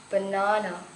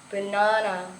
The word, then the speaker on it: banana: unstarts downs for example the word banana banana has starts on the second syllable the word and the